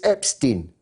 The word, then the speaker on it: Epstein: beginning, when most people didn't know how to pronounce his name, and some people still don't. It's still a controversial matter. It's Epstein, Jeffrey Epstein.